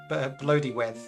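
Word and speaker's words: Blodeuwedd: Bloodyweth.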